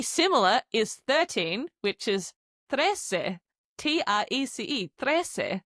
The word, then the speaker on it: trece: Pretty similar is 13, which is trece. T-R-E-C-E. Trece. You can hear in the word trece a tres, the number 3, hidden there.